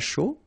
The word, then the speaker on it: chaud: All right, so, un cappuccino, not really difficult to produce, un chocolat chaud, remember, C-H, chaud, chocolat, and then final T not pronounced, chaud, final D not pronounced, un café glacé, un thé.